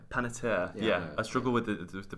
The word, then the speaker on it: Panettiere: first name, and then it sounds French, but it's Panettiere.